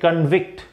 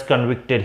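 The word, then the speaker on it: convict: लेकिन जब हम बोलेंगे कि जैसे कि ही इज अ कॉन्विक्ट, कि ये दोषी ठहराया गया, नाउन की तरह जब इस्तेमाल करते हैं तब इसका प्रोनाउंसिएशन होता है कॉन्विक्ट.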